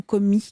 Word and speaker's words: Comey: pour la petite précision on dit comme et/ou commis comment vous le prononcer en français on peut dire les deux hangars james comme et